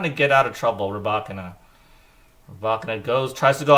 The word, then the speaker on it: Rybakina: Rybakina.